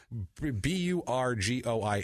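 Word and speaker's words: Bourgoin: That's not how you pronounce this. It's Burgoin is how it.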